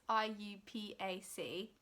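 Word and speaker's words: IUPAC: know how you say if you say it like oh you pack I say are you pack but I'm pretty sure it's I you PA see which is the naming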